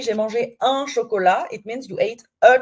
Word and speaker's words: chocolat: Chocolat, et chocolat, on ne prononce pas le T, hein. Silent T at the end, so chocolat.